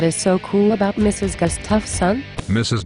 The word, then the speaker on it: Gustafson: I think you mean Mrs. Gustafson. So her name is pronounced Mrs. Gustafson? Yes, it is Mrs. Gustafson.